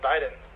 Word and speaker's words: Biden: Neni, no se dice Biden, se dice Biden. Como la mano. Bye, then.